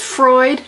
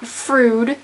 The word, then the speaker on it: Freud: you in trouble his name is Freud not frud the word is conspicuous